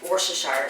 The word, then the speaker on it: Worcestershire: You'll also need, obviously, mushrooms, because mushrooms stroganoff, veggie broth, butter, plant-based butter, and Worcestershire sauce.